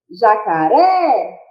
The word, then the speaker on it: jacaré: Por exemplo, jacaré. Qual que eu falei com maior intensidade? O ré. Então, a gente pode dizer que a última sílaba é a sílaba tônica, então se trata de uma palavra oxítona.